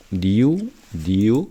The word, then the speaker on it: knew: knew, K는 묵음, well, 잘 알고 있었던 현대 페르시아어 이렇게 됩니다.